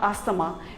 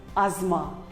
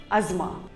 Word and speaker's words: asthma: wrong it is not asthama it is called as asma the t and h is silent asma here is another common